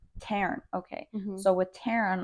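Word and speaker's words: Tairn: she does with t that's how they say it in the Audio I think that's what it is but my phonetically my mouth doesn't audio book they say Taran Taran okay so with Taran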